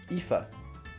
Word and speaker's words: Aoife: How do you pronounce that? Yofi? I know Sorsha. Aoife. Really?